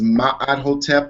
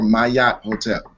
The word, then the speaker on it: Ma'at Hotep: My name is Ma'at Hotep or Mayat Hotep.